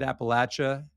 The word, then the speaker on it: Appalachia: I say it Appalachia. I think it's spelled Appalachia.